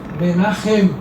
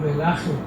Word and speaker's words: Menachem: O CH pronuncia-se como R, 2 R's. Menachem ou Menachem.